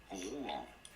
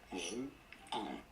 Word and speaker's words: Rouen: For reference, in France, in French it is said as Rouen. Rouen. Rouen.